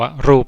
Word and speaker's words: รูป: นะ ครับ ปปา เช่น คำ ว่า รูป นะ ครับ ร อู บ รูป นะ ครับ เวลา อ่าน ตัว สะกด สะกด ด้วย ตัว บ ใบ ไม้ แต่ เวลา เรา เขียน เรา เขียน ด้วย ตัว ป ปลา แทน นะ ครับ รูป มัน